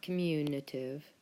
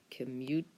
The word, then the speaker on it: commutative: is called the commutative property not communitive commutative commutative property now the commutative property sounds like the word commute and commute is what